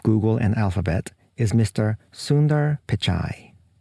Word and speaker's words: Sundar Pichai: and alphabet is Mr Sundar pichai I asked my colleague and a post-doctoral researcher from India about how to pronounce his name so I hope my pronunciation is almost right if not perfect that's Mr Sunder picai